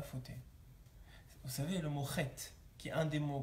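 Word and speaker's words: חטא: C'est comme ça que ça s'écrit chet. Ok? Maintenant, dans ce mot-là, il y a un aleph. Et ce aleph-là, on l'entend pas. On ne dit pas chata, on dit chet.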